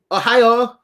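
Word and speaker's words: おはよう: and it it it sounds like the word ohio like uh in in this as in the state but um you're actually saying it kind of with the bottom of your mouth and the back of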